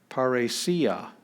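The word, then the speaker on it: παρρησία: double consonants are divided so we have row and row so that just forms a natural division there so this is par re c uh and this is the accent so we hit that one parasia boldness clearness something like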